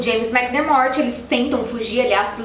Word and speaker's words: McDermott: da casa, o James McDermott. Opa, pausa dramática para dizer que eu pronunciei o nome dele errado, e o certo é McDermott.